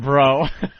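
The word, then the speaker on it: Breaux: found their baby and their last name is like b r e Au u x you know how that's pronounced down there bro bro bro and he actually said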